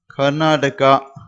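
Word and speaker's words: कर्नाटक: அப்ப கர்நாடக், கர்நாடக் அப்படின்னு சொல்லணும் ஹிந்தியில. கர்நாடக் அப்படின்னு நீங்க ஹிந்தியில உச்சரிக்கணும்.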